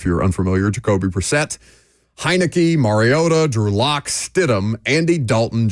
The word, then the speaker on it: Mariota: Mar, not Mayor.